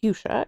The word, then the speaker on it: fuchsia: Fuchsia, but also because it was named after Leonard Fuchs, who is a botanist and physician, actually.